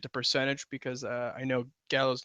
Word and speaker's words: Gallo: I mean, I guess we could change it to percentage because I know Gallo's not. Or I think he actually does pronounce it Gallo. It's not Gallo, right?